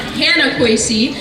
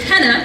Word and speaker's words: Hannah: But my name is actually not Hannah Kwesi. The correct pronunciation of my first name is Henna, like the temporary tattoo dye, and it means happiness in Arabic.